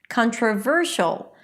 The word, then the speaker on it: controversial: You know that the primary stress should be before the suffix.